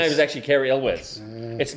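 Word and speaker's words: Elwes: Yes, it's Elz. His name is actually Carrie Elw. It's not Ules, but that's Everyone just says that.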